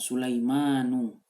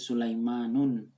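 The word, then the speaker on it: سُلَيْمَانُ: Nama Nabi yang juga disebut dalam Al-Quran Sulaimanu, tidak pernah ditulis Sulaimanun harokatnya, selalu Sulaimanu, kan ada alif dan nun di belakangnya itu. Nah, kalau ada nama atau kata yang ada pola seperti itu, jangan ditanwinkan. Jadi bacanya nu saja.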